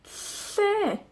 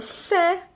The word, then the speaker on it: lle: Para pronunciar la doble L, hacemos como una L, pero soplamos a ambos lados de la lengua.